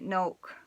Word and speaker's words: Noach: Noah was really Noach, or Noach, having a K sound at the end of it.